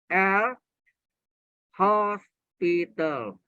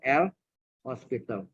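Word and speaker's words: L'Hôpital: Ini yang terkenal dengan dalil L hospital. Ingat, tidak pakai S. Kalau pakai S, hospitalnya rumah sakit. Ini HO-nya pakai topi, O-nya. Bacanya hospital.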